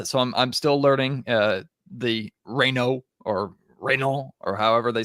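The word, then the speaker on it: Raynaud: Maxime Reynaud. I was mistakenly pronouncing the D last night.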